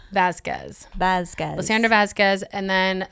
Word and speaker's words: Vázquez: your points again real quick uh uh lisandra Vazquez you can find me on um Instagram is